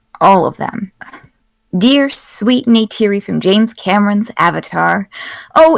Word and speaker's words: Neytiri: Yeah, Neytiri.